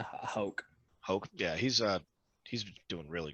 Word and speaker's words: Houck: I don't know how to pronounce his last name. It's Houck.